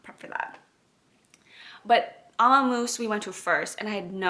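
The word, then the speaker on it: Ömmumús: And then the last thing, I actually went to, I believe it's pronounced Amamoose, which I feel like is like grandma mouse, because their logo is like a mouse knitting with like a little like granny bonnet.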